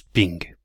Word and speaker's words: PNG: des images PNG mais comme dirait Bernard ça se prononce ping on va prendre un